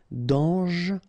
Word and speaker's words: dangereux: Dangereux, final X not pronounced, and then don't really pronounce this E here, okay, so you get dangereux. Mort, final T not pronounced, O-R, or, mort.